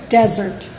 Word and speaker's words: Dessert: okay it's the desert it's spelt like dessert but it's pronounced desert okay i was like